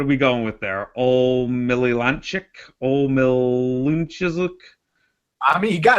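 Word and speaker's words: Omielańczuk: Omililanchik? Omilunchizuk? I mean, you got it right the first time, man. Omilanchuk.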